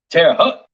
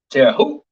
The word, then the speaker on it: Terre Haute: Terre Haute. Terre Haute. Terre Haute. I think that's how you pronounce it in Indiana.